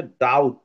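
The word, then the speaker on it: doubt: 2 নম্বর আছে ডাউট। Okay. ডাউট, হ্যাঁ। এখানে কোনটা সাইলেন্ট হয়েছে? বি। বি সাইলেন্ট হয়েছে, গুড।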